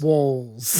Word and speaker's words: Walz: Dave, let's start talking about Tim Walz. Walls. Yes. Yes. And like everyone, I apologize for blatantly mispronouncing it until, you know when I started pronouncing it correctly?